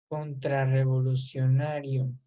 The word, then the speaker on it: contrarrevolucionario: Esta es una palabra grave, a pesar de que es muy larga la palabra, el acento o la entonación más fuerte lo tiene en la sílaba na, la sílaba que está casi al último, la penúltima.